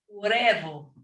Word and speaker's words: huevo: Huevo. Huevo. Remember, okay, the H is silent, so huevo.